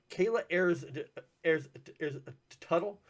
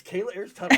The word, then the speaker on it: Kayla Ayers Tuttle: But anyways, so I have with me today Kayla Ayers Tuttle. Yes, perfect pronunciation. Yes, Kayla Ayers Tuttle. Right, perfect.